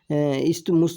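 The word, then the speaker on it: isthmus: है, जैसे पनामा जो इस्टमुस जो इसको बोला जाता है। यहाँ पे जो TH है वो साइलेंट होता है, तो ये सब इनको बोला जाता है।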